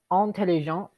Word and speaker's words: intelligent: When it is feminine, we pronounce the T at the end. When it's masculine, we don't. It's just petit. We have intelligent.